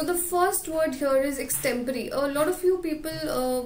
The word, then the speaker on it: extempore: So the first word here is extempore. A lot of you people will pronounce it as extempore or something like that, but it's extempore, right?